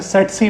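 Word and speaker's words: tsetse: देखिए यहां पे टी साइलेंट होगा। इसे सेट सी मक्खी पढ़ेंगे।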